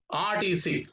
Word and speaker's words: RTC: next an rtc bus rtc how do you pronounce this letter r here ah look at this sound sound rtc rtc so an rtc bus we should say not a or tc bus my brother is working